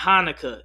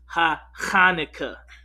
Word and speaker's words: Hanukkah: Okay, it's not Hanukkah. It's Hanukkah. I know you think it's called Hanukkah, but when you actually do the spelling in the ancient Hebrew, it's Hanukkah. So I know you think we're saying it wrong, but you've been saying it wrong your whole life.